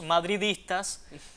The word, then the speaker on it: madridistas: Así que los madridistas a pronunciar bien esa palabra con la D adecuada.